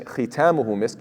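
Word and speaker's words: خِتَامُهُ: Instead of khitamuhu misk, it's khatimuhu misk.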